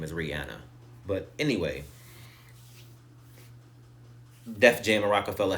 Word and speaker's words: Rihanna: she has said several times her name is Rihanna but anyway Def Jam Rockefeller had three people